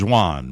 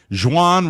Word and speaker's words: Xuan: It's spelled Xuan. I believe that's Juan, right?